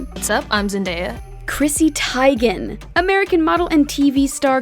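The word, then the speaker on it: Teigen: still says tygan and i just have been saying tegan though her husband's name is easier to sound out let's not give up on chrissy just yet practice with us guys tygan tygan nice you're getting it it is tygan it's chrissy tyga jake gyllenhaal producer and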